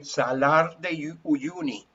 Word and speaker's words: Salar de Uyuni: Well, if you translate it into Spanish, because you can say Salar de Uyuni, that's the proper name, okay?